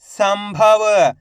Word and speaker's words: संभव: मिलके बन जाएगा जंतर कम बल तो मिलके बन जाएगा कंबल कम प न कंपन सम भ व तो मिलके बन जाएगा संभव इन तीनों शब्दों के अंदर आधा मा का उच्चारण हुआ किसका आधा मा का